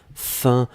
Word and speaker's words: faim: Souvenez-vous, l'expression c'est avoir faim, avoir soif, etc. Donc ici, c'était faim. On l'écrit F-A-I-M. On le prononce faim. Comme F-I-N, c'est exactement la même prononciation. Allez, on continue avec ça.